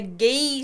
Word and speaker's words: GI: to get through another great episode on the ghee spot. Yes, the G spot. Definitely not the G-spot. We we spell it GI and it's pronounced G like what we wear when we do jiu-jitsu.